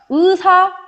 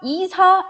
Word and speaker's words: 의사: 그러면서 의사, 이사 이런 식으로 발음하면 안 되고 무조건 의사 이렇게 발음을 해줘야 된다라는 거고요.